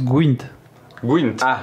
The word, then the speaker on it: Gwent: me permettre en tant que puriste ça se prononce gint gint oui mais en français c'est Gwent ouais il y a un e dans français